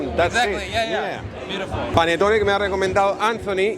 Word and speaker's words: Panettone: Panettone.